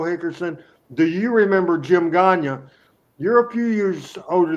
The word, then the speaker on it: Gagne: The opponents for Barnes and Dundee in that debut match was Jim Gagne, spelled like Greg and Vern, Gagne, and their tag team partner was a babyface Dennis Condrey, obviously.